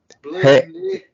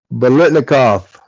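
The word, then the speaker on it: Biletnikoff: Receivers look like Blitnick, kick off, award. I had to do it. Blitnikoff. 4 syllables.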